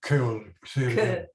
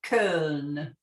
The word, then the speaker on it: Köln: Köln. Köln. Okay, that's the way it's pronounced today.